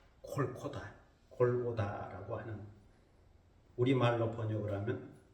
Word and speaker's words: 골고다: 되고 영어의 갈보리가 됐다 히브리의 원래의 발음은 콜코다 골고다라고 하는 우리말로 번역을